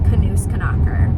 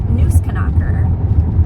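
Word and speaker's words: Nussknacker: Turns out I've been remembering it wrong for like 12 years, and it's actually just Knusknacker. It's not Knusknacker, it's Knusknacker, which makes so much sense because there's not a K in front of Knus, like, because in German they pronounce every letter.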